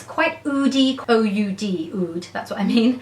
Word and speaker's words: oud: I can't believe I can't pronounce this. It's quite oody, O-U-D, oud, that's what I mean.